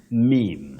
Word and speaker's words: meme: The singular form, meme.